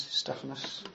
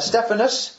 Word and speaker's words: Stephanas: second half he singles out the household of stephanas I've pronounced that right Stephanus yes Stephanus and saying those of that household devoted themselves